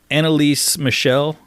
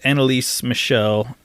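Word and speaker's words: Anneliese Michel: Annalise Michel, I believe is the correct way to pronounce her name.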